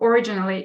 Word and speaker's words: originally: You pronounce it with g rather than j. So originally is it's a quite common word, and you may want to take more attention to this one.